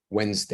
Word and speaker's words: Wednesday: e so wins wins Wednesday Wednesday one of those toxic words that has too many letters that are not pronounced Wednesday and in the